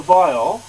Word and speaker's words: viol: Now, as you can see, the viol, that's the way it's pronounced, viols, it has deep sides which slightly curve inwards there, and again there.